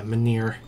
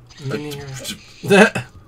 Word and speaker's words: Menhir: Yeah, Menhir. That's how they say it. Menhir.